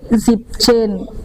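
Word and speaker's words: siebzehn: Tapi kalau 17 menjadi zip chain, N-nya hilang.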